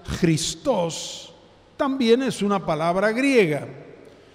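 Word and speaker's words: Χριστός: una palabra griega y cristo en griego se pronuncia cristos también es una palabra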